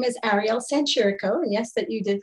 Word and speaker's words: Ariel Sanchirico: so first and foremost uh my name is ariel sanchez yes that you did pronounce that right i currently live and work